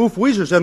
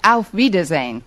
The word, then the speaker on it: auf Wiedersehen: Actually, the word you have in mind is pronounced auf Wiedersehen.